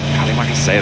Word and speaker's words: terima kasih: Oh, is it Terima kasih, right? That's it. Yeah, we were learning it. Well, we were over there before. Terima kasih, that's what they want to be saying towards the end.